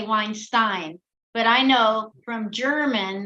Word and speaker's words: Weinstein: 18th century, but then it changed, then the pronunciation. Yes. Changed. So you go by Weinstein.